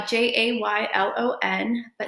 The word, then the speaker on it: Ceylan: j-1 um my name is unique it is pronounced je a why am i spelled c ey LAN um it is a unique name and it's 100% my parents fault but it's pronounced so I live in north burrow with my